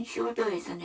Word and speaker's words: shoulder: 여기서 이 R을 떼버리게 되면 should죠. should에서는 L 사운드가 묵음이지만 shoulder, ER을 붙여준 shoulder에서는 L 사운드가 정확하게 발음이 나고요.